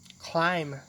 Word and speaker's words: climb: in the bag มีเงินอยู่ในกระเป๋า Sometimes the letter B is silent. That means we don't pronounce it. This usually happens when it's at the end of a word and it comes after another consonant.